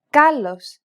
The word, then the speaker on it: κάλος: This accent just indicates that you need to stress the syllable. That's it. Κάλος, καλός. Νόμος, νομός. Θέα, θεά. Notice how the accented syllables are emphasized? It's pronounced a little bit louder and longer than the surrounding syllables.